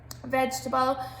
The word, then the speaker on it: vegetable: are in that word vegetable has a silent e in it the second e is silence so it's about remembering